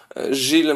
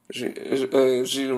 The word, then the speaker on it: Jules: Jednak w rzeczywistości rządził kolejny pierwszy minister po kardynale Richelieu, czyli kardynał Gilles Mazarin, czyli pisze się Jules Mazarin. Gilles Mazarin, tutaj widzimy jego go na obrazie i on sprawował władzę przez prawie blisko 20 lat.